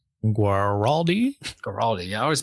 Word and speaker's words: Guaraldi: Vince, Vince Gilliardi. Guaraldi. Yeah, I always mispronounce.